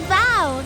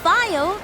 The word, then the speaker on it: Val: It's Val, not Vile. That's how you say it.